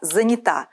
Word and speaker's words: занята: запомним верно только занята ударение в краткой форме здесь меняется только в женском роде во всех остальных остается таким же как в полной форме прилагательного занятой занят заняты заняты в женском Я занята на окончание можете быть уверены правильное